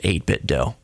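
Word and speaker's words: 8BitDo: They're mentioning 8-bit DO controllers. I call them 8-bit DO because you don't pronounce it Nintendo do.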